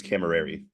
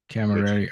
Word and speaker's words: Camaerei: say your last name my last name is cameri Camary okay it's nothing like it spell yeah yeah so I